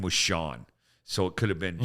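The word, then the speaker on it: Scian: The name was Sean. So it could have been sheer he. And it wasn't spelled like anything you've ever seen.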